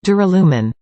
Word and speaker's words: Duralumin: a rad sounding name I know some people have trouble pronouncing it it's phonetically correct duralumen either way there's a slight